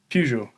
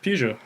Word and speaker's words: Peugeot: And it's Pujo.